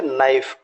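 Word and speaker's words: knife: सामने है जैसे लिखा नाइफ के एन आई एफ यहां के का प्रोनंसिएशन नहीं करेंगे और य जितना भी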